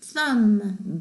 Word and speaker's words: thumb: 자, climb, comb, thumb, bum 다 B가 발음이 안 되는 글씨들이죠.